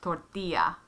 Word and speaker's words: tortilla: have double r's um ll is actually a y sound that's why tortilla it's a yah